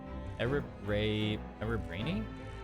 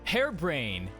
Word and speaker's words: Hairbrain: How do I pronounce this? What the heck? Harabraini? Hang on, let me look at a Japanese. How is this pronounced? What the heck? Oh, hairbrain. Oh my god, I can't believe I just noticed that. It's hairbrain.